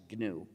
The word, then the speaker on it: GNU: name of our system please pronounce it with a hard g pronounce it gnu if you call it the new operating system you will